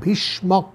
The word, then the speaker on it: ভীষ্মক: করে রেখেছিলেন ভীষ কিন্তু ভীষক ভীষণ নয় ভীষ্মক ভয় দীর্ঘি মূর্ধনশয় কী মক ভয় বানানটা হচ্ছে ভয় দীর্ঘ ভি মূর্ধন্যস কয় মীষ্মক মূর্ধন্যস ময় ক বি ভীষ্মক তিনি কিন্তু তার পিতা